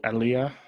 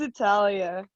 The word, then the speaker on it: Italia: don't have time um is it elia how do you say it i'm sorry i'm way off it's italia italia yes sir um question